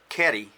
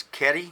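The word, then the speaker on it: 蹴り: You notice the word for kick is Keri with a K, but when you put a word in front of it like Mai, it becomes Mai Geri with a G.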